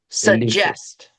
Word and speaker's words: suggest: Hard G in English. Yeah, suggest. Suggest. Yeah, and it's not like a ooh, it's just like a what I call a lazy U. It's just suggest.